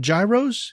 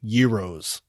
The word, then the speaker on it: gyros: If memory serves, he taught us a valuable lesson that you do not pronounce them gyros, you pronounce them euros.